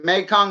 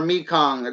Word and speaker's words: Mekong: is more common or you can pronounce it making or Mekong depending on the part of the world you're in but they get larger